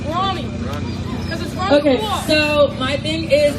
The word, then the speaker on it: Rami: It's pronounced Rami.